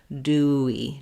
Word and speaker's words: dewy: in between those so thinking of Dewey as dewy do we just allowing your mouth your voice to say uh stay on your mouth to move from the U to the E position that Glide will happen naturally Dewey so do and dewy